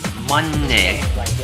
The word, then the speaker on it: mani: So it's Om Manne. Manne with the back of the nose closed. Manne. It's against the roof of the mouth.